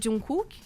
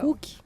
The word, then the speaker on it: Jungkook: Não, Só pra tem o pronunciar. Jimin, que é um dos vocalistas. O Jungkook, que é... Jungkook?